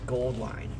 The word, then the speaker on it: Auline: Jerry with Auline Goldline did actually say that this the AU part of their logo and business name, company name, is supposed to be the periodic table symbol for gold.